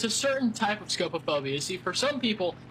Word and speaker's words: scopophobia: movie, and that is scopophobia.